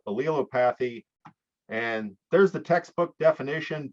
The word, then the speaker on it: allelopathy: I pronounce it allelopathy, but if you're an English major and you can read that pronunciation chart and say that I'm butchering that, please let me know. But for now, I'm going to stick with allelopathy.